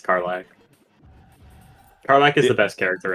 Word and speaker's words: Karlach: I don't remember that's how the fuck to pronounce her name. I was gonna ask if that's what your profile picture was. It's Karlach.